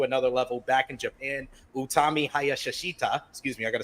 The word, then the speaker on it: Utami Hayashishita: Utami Hayashishita, excuse me, I got to say it correctly